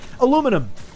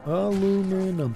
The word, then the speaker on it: aluminum: and so we're actually being contrarian by spell pronouncing it differently. But it's like aluminum. Very easy to say. Aluminum. Alum aluminum.